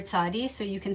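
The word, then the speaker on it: צדי: actual way the letter looks, it's called the tzadi. It's the Hebrew letter tzadi, so you can spell it T-Z-A-D-D-I.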